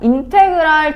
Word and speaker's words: 인테그랄: 읽을 때는 인테그랄이라고 읽습니다. 그래서 인테그랄 뒤에 붙은요 dx는 x에 대해서 적분한다라는 뜻이거든.